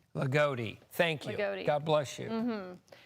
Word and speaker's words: Loogootee: Yeah, I just got the pronunciation from one of our digital teams, Loogootee. Loogootee. Thank you. God bless you. Loogootee.